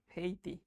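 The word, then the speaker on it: Haiti: হেইতি, ওই দেশটার উচ্চারণ কিন্তু হাইতি না, উচ্চারণ হচ্ছে হেইতি। হেইটি আর কি।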